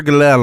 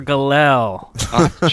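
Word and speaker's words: Gallell: do a search for galel on youtube we'll be the first one it's g-a-l-l-e-l-l it just sounds like you're mispronouncing glee or something yeah it's a horrible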